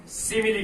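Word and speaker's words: simile: अब नेक्स्ट जो फिगर है वो नेक्स्ट फिगर आपके आएगा सिमिली फिगर, और कई बच्चे इसको स्माइल बोलते हैं, स्माइल, जबकि स्माइल की स्पेलिंग क्या होती है, ये वाली। इसका मतलब क्या है, सिमिली।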